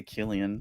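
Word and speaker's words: Cillian: And Chileian Murphy, is that how you pronounce it? Chillian. Silian. I say I say Killian. Killian. We don't pronounce this right here.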